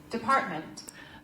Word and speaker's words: department: bad in that word Department Department Department Department you see the little side here show you that department the stress syllable is the second one the stress is on